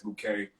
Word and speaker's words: Bouqé: it you know it you know how to pronounce it as bouquet but i could trademark